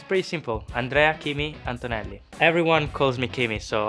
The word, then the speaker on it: Antonelli: Andrea Kimi Antonelli. Everyone calls me Kimi, so I will go for that. You pronounce the A's probably a bit different, so it's just a bit more flat.